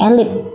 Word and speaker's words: elite: Ini cara membacanya elit. Apakah tulisannya sama? Tidak. Ternyata tulisannya menggunakan double E, elite, tetapi kita baca dengan elit, seperti itu.